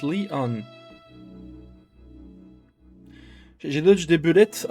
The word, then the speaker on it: Leon: I'm Lion. Lion? Who the heck are you? It's written as... but pronounced Leon.